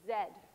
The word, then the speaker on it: Z: emailed then have to Zed chromosomes so glad I'm in Canada now talking about this because the Americans always tease me about my pronunciation of Zed so for all the Americans at Z so that sometimes it